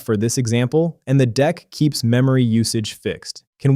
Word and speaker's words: deque: We need a sliding window, and the right tool is a dec, pronounced dec.